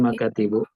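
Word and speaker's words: مكاتب: Ingat kalau bacanya makatibu benar. Ini jamak dari meja atau jamak dari kantor ya. Karena mufradnya maktab ya. Jangan salah baca. Karena kalau dibaca mukatib jadi isim ghairu munsharif.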